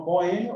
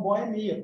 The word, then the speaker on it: boemia: Então, dupla pronúncia prosódica tem a ver com a sílaba tônica.